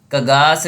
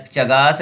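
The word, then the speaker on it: Chagas: Trypanosoma gambiense कगास disease या चगास disease, जो भी आप प्रोनाउंसिएशन कर सकते हो, कगास डिजीज या चगास डिजीज के लिए कगास कगास R3, ये हो गया 2 1 3।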